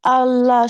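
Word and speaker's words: الله: আপু, আল্লাহ শব্দ আগে যদি জবর আর পেশ থাকে তাহলে ওটা মোটা করে পড়তে হয়, আল্লাহ এভাবে পড়তে হয়।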